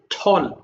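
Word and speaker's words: tall: ভালো করে পড়বা, এরপর টল দিয়ে পড়বা সবগুলো, ইয়াং দিয়ে পড়বা। এইভাবে আমরা এই পর্যন্ত শেষ করব। একটু শোনো ভালো করে, এটা গুড, এটা ঠল, টি এ ডাবল, টেল বলো না কেউ, ঠল।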